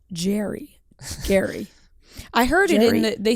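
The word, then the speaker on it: Gerry: but it's pronounced scary it's pronounced Gary yes but it's spelled like Jerry yes and and why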